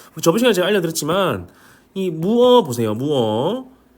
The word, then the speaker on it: mua: 무 원래라면은 문자표 발음표 보면은 무아죠. 무아. 어, 근데 제가 저번 시간에이 끼어를 설명드리면서 관습적 관행적으로 베테란 사람들이이 아 발음을 어라고 있는 단어가 몇 개 있다라고 했어요. 맞죠? 음. 그래서 이것도 무무어도 그것 중에 하나다라고 아시고 계시면 됩니다.